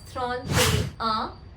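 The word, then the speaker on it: trente et un: 30 एंड एंड one excellent guys if you pronounced it एज थ्रॉन ते अ it's correct थ्रॉन ते अ थ्रॉन ते अ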